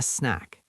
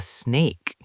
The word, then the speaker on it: snack: But because of pronunciation, you forget the ending sound or change the vowel slightly and you say, "I want a snake."